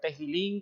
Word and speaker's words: Tehilim: hablando de este libro El sefer tejilín como se debe pronunciar en hebreo la palabra sefer que